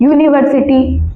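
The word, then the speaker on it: university: यूनिवर्सिटी। यूनिवर्सिटी में यू का sound हो रहा है तो अ आएगा।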